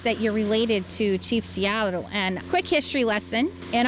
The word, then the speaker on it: Seattle: How is it that you're related to Chief Seattle?" And quick history lesson, in our language, there is no th. So, it's not self like a lot of people think.